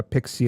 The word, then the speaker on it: PKCE: connect uh in relation to that and uh Pixie and how the stuff kind of fits together?